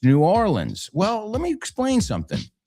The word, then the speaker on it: New Orleans: The technically correct way is New Orleans. No se pronuncia la A y E juntos. But you know what they say? Nolens.